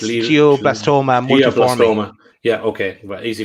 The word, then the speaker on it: glioblastoma multiforme: It's pronounced. Go on, Daz. It's glioblastoma multiforme.